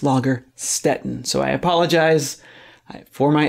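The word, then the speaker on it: Lagerstätten: the lager Stetten but they were wanting me to do that last hard vowel correctly I was saying lager Staton and it's lager Stetten so I apologise for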